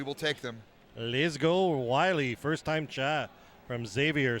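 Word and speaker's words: Wyley: He was saying go L Willie. Wiley. Wiley spelled with a W-Y.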